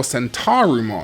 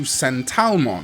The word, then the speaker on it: Sentarumon: It's usually romanized in Japanese media to Sentalmon, but this is very, very clearly, in my opinion, a victim of the L and R liquid phoneme in Japanese.